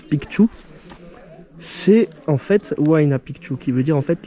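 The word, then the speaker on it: Huayna Picchu: ce n'est pas du tout Mau pu on prononce pu c'est en fait wi pu qui veut dire en fait la jeune montagne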